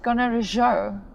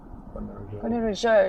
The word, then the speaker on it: Gonarezhou: And how do you pronounce it? Gonarezhou. Gonarezhou. It's more Mozambique. Gonarezhou.